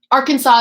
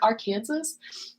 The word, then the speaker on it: Arkansas: I've ever done 100% Arkansas is how you pronounce it okay that's what I live in the United States like I definitely bought that but when you read it you're like Arkansas um it's okay you